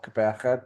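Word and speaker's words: Gqeberha: We were playing in PE or Kapacha, depending how you want to pronounce it, because we had the sevens on that weekend.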